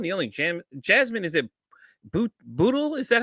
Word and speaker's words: Bootle: Addicted, the one, the only, Jasmine, is it Bootle? Is that how you say it? Yeah, you said it right, Bootle.